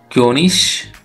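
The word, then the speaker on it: König: हम जाएंगे अब उमलाउट ओ का प्रोनाउंसिएशन, तो उसको कहते हैं उमलाउट ओ का प्रोनाउंसिएशन होता है दोस्तों यो। तो अब एग्जाम्पल देखेंगे। फर्स्ट एग्जाम्पल है दोस्तों क्योनिश।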